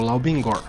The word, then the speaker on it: 老冰棍儿: Esse é o Lao Bingguan, ou por aqui se pronuncia mais algo como Lao Bingor.